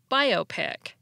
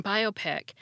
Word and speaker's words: biopic: it's usually a suffix the temptation to put the stress on the op syllable is even stronger in biopic because so many other words end not just in ic but in opic as in topic tropic and myopic some of them are